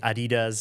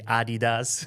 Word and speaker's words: Adidas: People in the US or other countries say Adidas and Germans say Adidas.